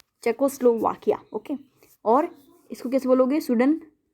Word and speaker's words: Czechoslovakia: कैसे बोलोगे? देखो हिंदी में बताती हूँ, चेकोस्लोवाकिया। ये स्पेलिंग मत लिख के आना, स्पेलिंग तो ये लिखनी है, लेकिन बोलोगे तो कैसे बोलोगे? ऐसे, चेकोस्लोवाकिया।